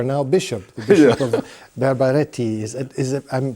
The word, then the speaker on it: Berberati: Your first internship was at the same diocese which you are now bishop, the Bishop of Berberati. Is it, I'm pronouncing it correctly? Yeah, Berberati.